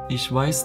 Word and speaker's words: ich weiß: listen conjugation ich weiß du weisst ases vice via bisson yah vest see vism this verb needs the accusative case therefore the correct way to say i know that is ich weiß toss in German there are two words with